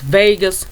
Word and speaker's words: vagus: a g u s vegas nerve that's what it's called and it's pronounced like you know like you'd say vegas las vegas or whatever but it's vegas nerve